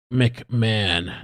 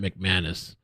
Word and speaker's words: McMahon: It's pronounced McMahon, not McManus. I don't know where I got McManus from.